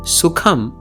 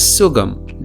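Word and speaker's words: സുഖം: For example, in the Sanskrit word Sukham, even though Malayalam writes it accurately, Malayalis tend to pronounce this as Sugam.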